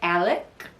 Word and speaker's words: Alex: If you want to look it up, it's Merdaugh, and it's Alex, Alex, but down in South Kakalak, especially in the low country, we say Alec Murdaugh.